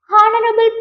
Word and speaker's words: honorable: Next honorable man. Okay, honorable man is wrong. Honorable H silent, so and.